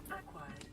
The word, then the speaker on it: acquired: Acquired. New blueprint acquired. Why you gotta pronounce the Q in acquired? Well, at least a lot of emphasis on the Q. Skip the C.